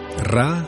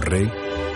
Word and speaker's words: Ra: Ra, también pronunciado como Re, es el dios sol.